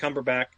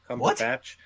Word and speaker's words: Cumberbatch: I just I pronounced it phonetically. Cumber Cumberbach. Cumberbatch. Cumberbatch. Say with a British accent at least make it sound right.